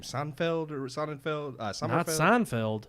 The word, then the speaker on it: Sonnenfeld: his name seld or sonnenfeld seld SE Feld not Seinfeld it's like son it's like son and Feld all I know is